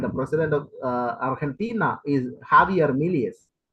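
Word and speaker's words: Javier: president of artina is jaier Milas see it's even J is put there but it is should be pronounced as ha jaier miles uh the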